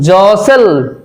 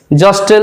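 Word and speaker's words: jostle: তারপর দেখো জসেল, জস্টেল নয়, জসেল মানে ঠেলা ঠেলি।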